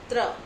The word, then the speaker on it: त्र: त्र। त्र को उच्चारण करो, आप लोगों को पता चल जाएगा